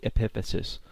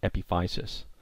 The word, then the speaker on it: epiphysis: So the first part of a long bone that you need to be familiar with is something called the epiphysis, or sometimes pronounced epiphysis.